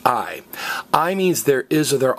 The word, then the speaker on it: hay: say aye aye aye looks like hey but it's pronounced aye aye means there is